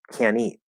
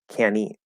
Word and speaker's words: can't: So if I say can't eat, we're actually going to pronounce this like can eat, can eat. We're going to drop the T.